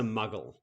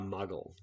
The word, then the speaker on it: muggle: one what is a muggle question number one what is a muggle it's a great word isn't it um it rhymes with puggle and um yeah it's